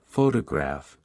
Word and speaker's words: photograph: sounding natural for example in the word photograph the stress is on the first syllable while in photographic the